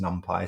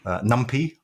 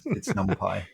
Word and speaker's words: NumPy: There is some dispute about how it should be pronounced. I think it's NumPy. Some people say NumPy or NumPy, but I think it's NumPy for numerical Python.